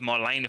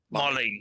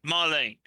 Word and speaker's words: Marlene: Didn't go home to Marlena for like dinner and stuff. Marlene. I keep on saying it wrong. I don't care. It's the last episode. Marlene.